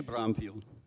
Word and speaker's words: Брумфилд: А произношение Брумфилд.